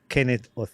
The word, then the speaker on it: Kenneth Otieno: or two and today I'm excited to have Kenneth Ora on the podcast did I pronounce the name right yes you did it